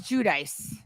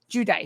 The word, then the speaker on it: Giudice: Like it's you know, Jew giu and then dice. Jew dice.